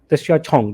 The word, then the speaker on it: Tishia Chong: Tishia Chong, that's how they pronounce it, I was told.